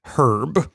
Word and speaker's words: herb: Conrad rter talking and he pronounces it herb so I guess that's you know a Germanic pronunciation of the English word herb as well so I think